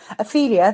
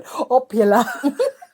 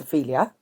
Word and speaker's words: Ophelia: It depends how you want to read it in the book, because sometimes I do catch myself going Opula. I'm like, no, that's not her name. Her name is Ophelia.